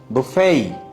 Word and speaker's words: buffet: Buffet. বুফেই। কি? Buffet. বুফেই। শেষে টি গেল কোথায়? England. ইংল্যান্ডে চলে গেছে?